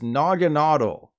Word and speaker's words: Naganadel: Do you think this Pokemon is called Naganadel, Naganadel, or Naganadel? I've heard all three used interchangeably, and I'm guessing the answers from you will be split evenly 3 ways. But if you watched the anime and saw Ashes, you know the correct answer is Naganadel. As in, nah, Pokemon Company, I'm gonna stick with Naganadel.